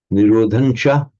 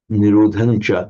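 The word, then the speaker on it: nirodhañca: By the way, this Nirodhancha, it can equally correctly be written with the Anuswara. Nirodhancha, Nirodhancha, they'd be pronounced exactly the same.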